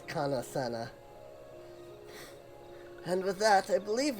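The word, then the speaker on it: Kan-E-Senna: conveyed to horned one kanasana also i keep saying it wrong it is kana senna and with that i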